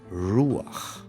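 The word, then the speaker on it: רוּחַ: And another rule, the accent always falls on the preceding syllable. So you would have YESHU'A, RU'ACH, NU'ACH, ha-ma-SHI-ach.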